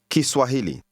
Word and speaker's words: Kiswahili: Ki Swahili. Swahili. Hili. Swa. Swahili. Swahili. Ki. Ki Swahili. Ki Swahili. Did you hear the Ki. sound at the beginning? It's like saying the language spoken by the Swahili.